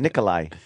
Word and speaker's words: Nikolaj: No, it's kind of a It's kind of an hy sound. Nikolai.